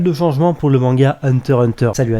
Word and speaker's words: Hunter x Hunter: va être opéré pour le manga Hunter Hunter ou Hunter x Hunter vous appelez ça comme vous voulez même si la vraie prononciation c'est Hunter dans le magazine Weekly